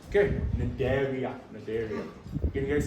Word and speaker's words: Cnidaria: Okay, so Cnidaria, Cnidaria. The C is silent. Okay, Cnidaria.